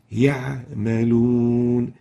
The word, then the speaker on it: يعملون: The right way of pronouncing it is يعملون.